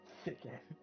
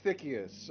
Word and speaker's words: Tikkas: Thick. No, no, no. It's it's it's thickus. Everyone always mispronounces it.